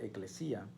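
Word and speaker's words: ἐκκλησία: La palabra iglesia es una palabra griega, se pronuncia eclesía, y literalmente la palabra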